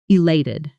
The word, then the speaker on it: elated: Notice the stress. I elated. Strong, clear beat on that second syllable. Slowly, I elated. Fast, elated.